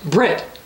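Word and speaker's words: בְּרִית: The Hebrew word for covenant would be pronounced in its anglicized form as Brit.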